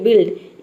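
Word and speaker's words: build: ठीक उसी तरह से यहां पर देखिए बिल्ड यू को छोड़ दिया और दूसरे को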